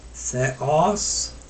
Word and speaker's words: Theos: Moving on, ugar apesteilen ha theos. See, I have a little accent. The accent is on the os part, so that's why it's a little heavy.